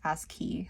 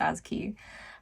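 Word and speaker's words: ASCII: So, it's spelled A S C I I and I think it's as key, like as key.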